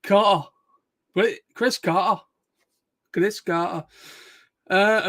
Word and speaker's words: Carter: Whenever I hear Chris Carter, I've got to do it in a proper British way. Pronounce it as the British word, Carter.